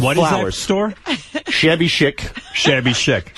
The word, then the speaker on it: chic: No, I think it's Shik.